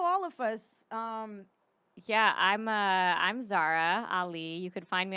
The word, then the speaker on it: Zahra: Yeah, I'm Zara Ali. You could find me on all the socials at really Zara. Zara is spelled Zahra.